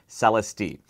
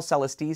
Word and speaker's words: Celestee: the focal celesti now that's how i'm going to pronounce it celesti even though i know my friends from focal in france will pronounce it much more elegantly and with proper french flair the last time i